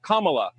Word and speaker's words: Kamala: fellow hosts on fox her name is pronounced comma like the punctuation mark look kamala okay seriously i've heard